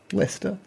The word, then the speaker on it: Leicester: Leester.